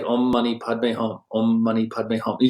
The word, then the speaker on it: Om Mani Padme Hum: For example, there's a lot of mantras, but one very popular one's called Om Mani Padme Hum. And What was that? Say that again. Exactly. 6 syllables. Om Mani Padme Hum.